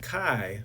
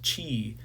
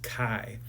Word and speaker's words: chi: Kai okay um and it's pronounced Kai right it rhymes with Sky it's not pronounced Chi even though it's kind